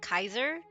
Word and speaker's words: Caesar: Um, but they pronounce it Kaiser, I guess.